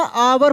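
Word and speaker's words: hour: तो देखिए इसको हम लोग पढ़ेंगे ना आवर पढ़ेंगे। क्या पढ़ेंगे? आवर। एच जो है साइलेंट है। क्या है मेरे दोस्त? साइलेंट है। एच का प्रोनाउंसिएशन नहीं हो रहा है।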